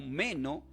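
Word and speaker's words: μένω: Del griego lo pueden mencionar como menó, con acento en la E, menó, que significa permanecer.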